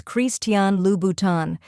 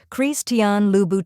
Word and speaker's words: Christian Louboutin: alone the correct way to say it is chrisan lhan let's break it down Christian is pronounced with a slight French flare as cre